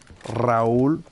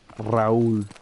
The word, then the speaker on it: Raul: Raul. Roll the R. Raul.